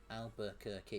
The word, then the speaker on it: Albuquerque: Albuquerque. It's got to be 4 syllables.